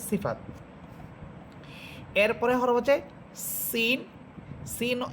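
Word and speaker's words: س: Scene এটাও চিকুন হরফ এবং এটাও ঝিঝি পোকার মতো আওয়াজ হবে।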